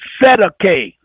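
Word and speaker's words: Cestui que: Now, they pronounce it CETA-K. They call it CETA-KAY.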